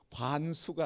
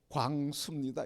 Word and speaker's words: 광수: 관수가 아니라 광수입니다. 이래도 발음이 안 된 거예요. 광이 발음 안 돼. 이응이 발음 안 된 거예요. 그 이응을 니은으로 관수. 관수.